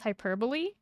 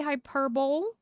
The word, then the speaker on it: hyperbole: heck I'm talking about it's like a Greek pronounce hyperbole I I'm not a person who would say hyperbole hyperbole it's not two L's it's an L E I know how I'm